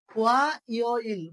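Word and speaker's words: 화요일: তাহলে থু ইয় ইল শনিবার, ই রিয় ইল রবিবার, ও রিয় ইল সোমবার, ওয়া ইয় ইল মঙ্গলবার, সু ইয় ইল বুধবার, মু গিয় ইল বৃহস্পতিবার, খুম ইয় ইল শুক্রবার।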